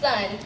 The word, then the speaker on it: Sun: name is sun yes it is pronounced sun like the one in the sky